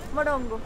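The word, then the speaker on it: morango: Morongo.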